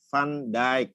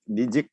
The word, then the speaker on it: Van Dijk: Jadi Van Dijk bacanya, bukan Dijik itu ya.